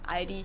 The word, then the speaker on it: Aldi: Or they also sometimes add an S that isn't there in the end and say Aldis. In Germany, we just say Aldi.